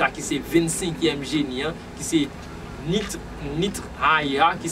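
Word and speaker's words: Nith-Haiah: Et qui ça vertu génie ça qui c'est 25e génie qui c'est Nitre Aïha qui s'écrit N-I-T-H Trésignon H-A-I-A-H lycée conseil intelligence, la force, conseil, intelligence, la force, la sagesse, la piété, la science, l'écoute.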